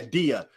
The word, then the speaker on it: Dia: let me in yeah yeah not I'm sorry my dear uh yeah I just realized when I was reading your name again yeah I heard your name pronounced many times yeah Dia shout out to DIA